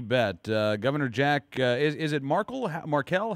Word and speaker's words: Markell: Governor Jack, is it Markell? How do you pronounce the governor's name there in Delaware? Markell.